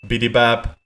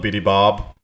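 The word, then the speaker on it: Bidybab: through the holes also it's pronounced bitty bab not bitty Bob I will deactivate myself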